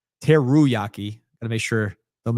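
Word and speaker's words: Teruaki: Uh let's go to a a different island right on the other side of the planet uh with Teryaki. Teruyaki. Got to make sure don't mispronounce that one.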